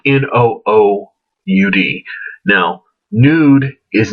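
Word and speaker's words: Noud: Nude, just as a side note, happens to be, notice the way it's spelled, N-O-O-U-D, no oud, is a fragrance which smells exactly like oud, as I will mention later in the review.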